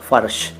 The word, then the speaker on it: फर्श: क्या कहेंगे जरा बताना फर्ज मत करना फर्ज मत करना फर्ज मत कहना फर्ज मत कहना सही उच्चारण है फर्श अगला सब्जेक्ट फव्वारा फुहारा